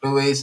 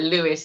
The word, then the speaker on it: Louis: People always like Lewis, and I'm like, you know what? There will be a day where everyone will say my name properly It's and true, say right. Louis.